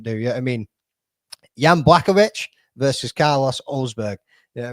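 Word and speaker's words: Błachowicz: I'm pretty sure it's Jan Blachowicz. Or no, sorry, it's Blachowicz.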